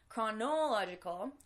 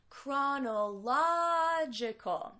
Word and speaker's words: chronological: how do we save you might not be sure about how to pronounce the CH or where to put the stress in this word it's not canola logical it's it's difficult for